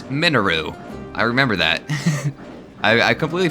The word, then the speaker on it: Mineru: What apparently it's not pronounced Mineru, it's Minaru.